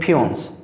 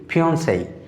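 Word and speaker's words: fiancée: তারপরে ফিয়ন্সেই, খেয়াল করো বন্ধুরা আমরা এটা সাধারণত বলি ফিয়ন্স, বাট ইট উইল বি ফিয়ন্সেই। খেয়াল করো দেখো এখানে যে সিই রয়েছে শেষে, তার জন্য এখানে এই সিম্বল হয়েছে।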